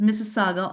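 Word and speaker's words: Mississauga: So, I'm not even going to try to pronounce what that city is. It's Missaga, Ontario.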